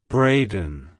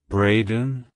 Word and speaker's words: Brayden: name it's pronounced as Braden Braden Braden to pronounce it correctly emphasize the B and then lightly touch the den at the end like Hello bradden Goodbye